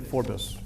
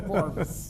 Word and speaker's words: Forbes: So everywhere in the world it's pronounced Forbes, except the town where my ancestors came from is Aberdeen, and they pronounce it Forbes. 2 syllables. So you pronounced it correctly. In the Irish style, not in the American way.